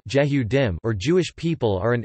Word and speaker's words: יְהוּדִים: Jews, Hebrew, Yedim ISO 259-3 Yehudim, Israeli pronunciation, Jehudim, or Jewish people are an ethnoreligious group and a nation, originating from the Israelites and Hebrews of historical Israel and Judah.